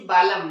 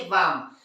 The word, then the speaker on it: balm: BA से बा, एल से आधा ला, और एम क्या पढ़ना चाहिए? बालम। लेकिन वो होता है क्या? नहीं। क्या पढ़ते हैं उसे? बाम।